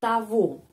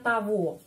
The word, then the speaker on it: того: Я вижу того мужчину, того, G pengucapannya v, ya, kita sudah tahu. Ada seperti itu kasus yang G. Я вижу того мужчину, jadi того membandingkan dengan nominatif tot. Ya, tot, jadi kita menulis togo, tapi ucapannya того.